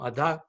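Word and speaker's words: adaḥ: next word ah da the dot under the H makes it a full stop it almost sounds like a K so it's a duck I was just stopping yourself before pronouncing a K sound so on poor Nam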